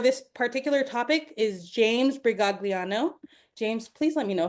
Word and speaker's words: Brigagliano: Today's speakers for this particular topic is James Brigagliano.